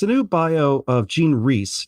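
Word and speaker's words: Rhys: yeah it's it's a new bio of Gan Reese it's spelled RH Ys and I mispronounced it actually for a long time before someone told me I was mispronouncing I said riss or I don't know how I said it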